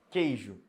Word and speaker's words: queijo: X um só som queijo queijo não pronuncio esse U um só som eu